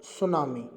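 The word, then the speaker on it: tsunami: तो देखिए, part 2 of lesson सुनामी, T silent होता है, और यही हम लगातार पढ़ रहे हैं।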